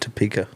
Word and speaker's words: Topeka: flooded, and So that's how you say it, Topeka.